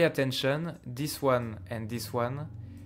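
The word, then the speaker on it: aux: Now pay attention, this one and this one, they have exactly the same pronunciation. O, O. No difference.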